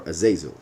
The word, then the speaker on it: Azazel: to the desert to Azazel or azazil as some people pronounce it in English so the Beast will